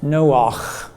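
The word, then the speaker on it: נֹחַ: And in Hebrew it's pronounced Noach. Noah.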